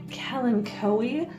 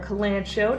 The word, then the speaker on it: Kalanchoe: And I've also got some Kalanchoe or Kalanchoe, depending on how you like to pronounce them over here.